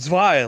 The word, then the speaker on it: zwei: goes june says sean it's pronounced zwei like in german get owned feels